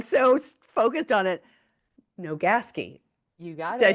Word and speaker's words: Nogaski: Now, I'm gonna say your last name wrong. I'm like so focused on it. Nogaski, you got it.